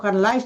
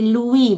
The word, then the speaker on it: Luis: Oh ya, saya tadi mengenai Louis dibacanya bukan ditulisnya Louis, ditulisnya memang Louis tapi bukan Lais dibaca tapi Louis, bahasa Belanda dipanggil Louis. Ya, Louis bukan Lais.